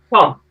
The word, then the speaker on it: Thom: Tom with an O. THOM. How do you say that? Tom. Tom. Tom. Tom. Oh, just Tom.